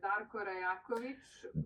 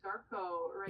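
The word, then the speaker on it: Darko Rajaković: By the way, for the record, it's pronounced Darko Rajelković or Darko Rajelković. Yes. Darko Rajelković.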